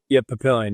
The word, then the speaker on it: Papillion: Is it pronounced Papillion? Is it Papillion? Yeah, Papillion, yeah. Yep.